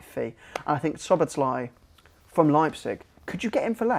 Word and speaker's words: Szoboszlai: Dominic Szoboszlai.